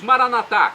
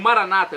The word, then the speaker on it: Maranata: E agora eu clamo do aramaico, dialeto de Jesus, Maranatá, como dizemos nós católicos, ou Maranata, como dizem nossos irmãos separados, os evangélicos ou protestantes. Não importa a pronúncia, o significado é o mesmo.